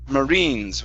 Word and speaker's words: marines: uh next word here this is marines instead of marines marines with the stress at the end okay very nice next